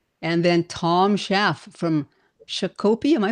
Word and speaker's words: Shakopee: is Timothy Miller hanging out from Chicago Burbs, and then Tom Schaff from Shakopee. Am I pronouncing that correctly, Tom? Shakopee, Minnesota.